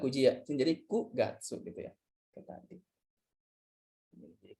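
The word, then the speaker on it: 九月: Kyugatsu. Yakin? Terus tadi gimana? Kugatsu. Kugatsu ya. Bukan Q tapi Kugatsu gitu.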